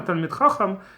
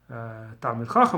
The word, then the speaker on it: Talmid Chacham: So to become a Talmid Chacham, as they pronounce it in Ashkenazic version of Hebrew, Talmid Chacham or Talmid Chacham in Sephardic pronunciation.